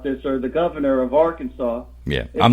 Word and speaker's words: Arkansas: now all right well you have you have the word arkansas and saw is saw and it's sas but if you take the